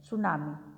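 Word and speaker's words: tsunami: सुनामी, टी is silent in सुनामी।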